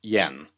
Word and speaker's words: Jan: My name is Jan, spelled Jan, pronounced Yen.